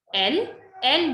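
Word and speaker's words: elles: L means they, but in case of feminine group. So if there is a group of girls, we say L. S is silent, so we never pronounce this.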